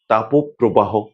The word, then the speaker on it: তাপপ্রবাহ: কিন্তু আমরা যখন সমাসবদ্ধ অবস্থায় উচ্চারণ করে থাকি তখন ওকারান্তে উচ্চারিত হয়। যেমন তাপ প্রবাহ এই শব্দটি আলাদা করে যখন তাপ বলি তখন কিন্তু অ এর নিচে একটি হসন্ত আসে।